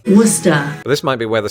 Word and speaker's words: Worcester: of the same name but wer Massachusetts with a population of 207,000 pretty much has the same pronunciation in fact with this being Massachusetts many locals even leave off the r like we do in Britain wer this might be where